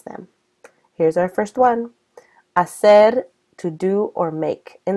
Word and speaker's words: hacer: In Spain, where Spanish was invented, this word would be pronounced hacer with a TH sound.